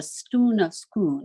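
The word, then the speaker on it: Stone of Scone: King Charles III the stone of schoon and they pronounce it the stun of schoon it's kind of Rhymes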